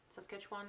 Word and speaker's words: Saskatchewan: out of canada uh i think saskatchewan says sketch one is how you say it but anyway it